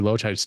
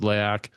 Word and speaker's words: Laoch: At first, when people started calling me Loach, I would look at them and be like, are you fucking kidding me? But, people didn't know how to pronounce it. So I had to kind of sit back. But it's Laoch, and it means warrior.